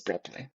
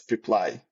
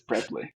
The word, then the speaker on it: Preply: something yeah I forgot already but the proper pronunciation is preply because many people are saying it's preply that's what I saying preply exactly but properly is prly and and uh this is a platform that